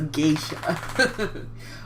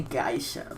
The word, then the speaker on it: geisha: Robin acacia yes a Geisha or some people say geyser but I pretty sure it's pronounced geisha or simply around those lines oh look at Zoar